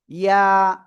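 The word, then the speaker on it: ياء: ইয়া। ইয়া, জিহ্বার মধ্যখান তার বারবার উপরে তালুর সাথে লাগিয়ে এই অক্ষরটা উচ্চারণ করতে হয়।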